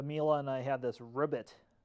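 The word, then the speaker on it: Robit: I have the Miele and I have this Ribbit. And that's pronounced R-O-B-I-T. That's how that's spelled.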